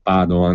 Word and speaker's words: Padoan: In ogni caso farà parte anche questo dei conti solidi di cui parla il ministro Padoan, mi raccomando con l'accento sulla prima A, perché non è di origini venete.